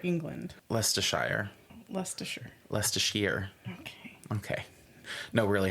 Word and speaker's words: Leicestershire: Leicestershire, England. Leicestershire. Leicestershire. Leicestershire. Okay. No, really, how do you say it? Leicestershire. Leicestershire. Mm-hmm. Like less assured.